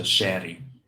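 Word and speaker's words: Chery: uh the best one the Brazilian one is a shaty it's spelled like Cherry with one R um it's a it's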